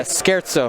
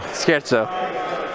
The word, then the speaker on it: scherzo: Yeah, Scherzo. Scherzo. It's Italian. You got to put a little oomph in it.